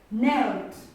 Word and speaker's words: knelt: We have another word like knelt. Knelt. Knelt. This k is silent. So we read this word as knelt.